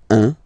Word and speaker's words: un: All right, so when you combine this u and n, you get the nasal sound 1.